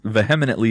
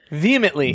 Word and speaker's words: vehemently: out on mispronouncing the word but using it correctly in a sentence vinant is actually vehemently vehemently yes so it's okay for